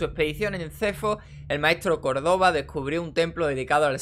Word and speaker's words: Córdoba: Ahora es Córdoba con B y con acento en la O.